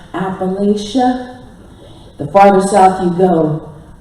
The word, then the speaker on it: Appalachia: And the effective pronunciation is Appalachia. And you can tell how many generations a family has been in the hills by the way they pronounce that word. You can also tell which part of the hills is their family origins. You get up into New York, you may hear Appalachia.